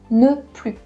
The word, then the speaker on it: plus: But there is a second situation where you don't pronounce that S. It is before an adjective. So for example, plus grand, you don't pronounce that S.